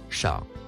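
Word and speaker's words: شَهْر: Le premier mot en surbrillance jaune se prononce shah.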